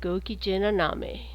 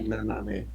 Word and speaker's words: gokigennaname: Yeah, how, how would you say how his would I name? pronounce that name? I would say gokigennaname. I Okay, think it's Japanese. okay, cool.